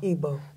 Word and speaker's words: Igbo: It says, to the, is it pronounced Igbo? Igbo.